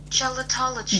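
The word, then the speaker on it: gelotology: Gelatology. Gelatology. That makes so much more sense. It's a soft G.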